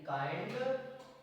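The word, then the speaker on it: kind: को आई पढ़ते हैं दोबारा जब किसी शब्द में आई के बाद एनडी या एलडी आए तो आई को आई पढ़ते हैं example M आई एल D mild मा प्लस आई प्लस अदला छड माइंड सी एच आई एल D child के आई एनडी काइंड नेक्स्ट रूल्स जब किसी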